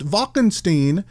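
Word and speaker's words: Wackenstein: Wacken Stein dr. Wacken Stein although it's pronounced Vulcan Steen in the movie played by Thierry Kaiser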